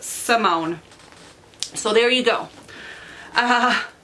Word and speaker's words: Simone: Sundown multi-mode tell by Simone st. James I have had to think God because I have been pronouncing this name wrong I don't know why I've been saying Simon there's an e back there one day I